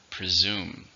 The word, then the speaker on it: presume: How many syllables are in presume? 2. Stress on the second. Presume.